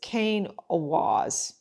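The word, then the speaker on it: Kenaz: So the pronunciation is Kane Awaz.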